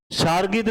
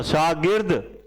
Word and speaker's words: शागिर्द: अंतर्गत, सागिर्द, शार्गिद नहीं होता, शागिर्द, उच्चारण शुद्ध होना चाहिए।